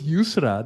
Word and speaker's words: Yusra: Yusra, right? And like that's your head. Is your name Yeah. is Thank you for you pronouncing know. well in Arabic. It was because it was Yusra.